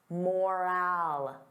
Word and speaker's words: moral: Now compare that to moral. Moral. The sound is less stressed. I don't open my mouth as wide. Moral, moral.